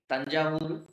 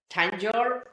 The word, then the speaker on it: Thanjavur: That very beautiful language, which is well-defined language, the most enchanting language we have completely changed its very pronunciation by Englishizing Another example The Tamil Nadu city Thanjavur It propagates a very beautiful painting system called the Thanjavur painting system.